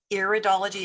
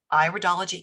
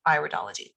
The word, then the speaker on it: iridology: word it is not iridology it is iridology it is an iris so it's iridology constitutional iridology recognizes that